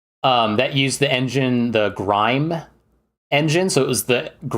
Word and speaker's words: GrimE: That used the engine, the Grime engine. So it was the Grim engine. They pronounced it Grime, but it was the engine that ran Grim Fandango.